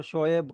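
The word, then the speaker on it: شعیب: बड़ा कॉमनली उसको शोएब कर देते हैं। वो शोएब नहीं है, वो शोएब है। मतलब करेक्ट प्रोनाउंसिएशन शोएब बनेगी।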